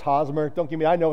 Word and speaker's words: Hosmer: Someone's going to let me borrow a Hosamer. Is that how you pronounce his name? Hosamer jersey. I know it's Hosmer.